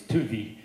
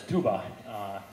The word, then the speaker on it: Tuvi: But the Mormons named it Tuba City because they were mispronouncing the Hopi elder's name, who was Tuvi, and they mispronounced it as Tuba. You'll see the same, for some reason they confuse that B and V a lot.